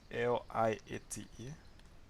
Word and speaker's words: LIATE: Okay, so using our letters L, I, A, T, E, I can pronounce that as liate.